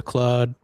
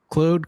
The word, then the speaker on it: Claude: Well, it's spelled like a Frenchman's name, so I'm gonna say it like a Frenchman.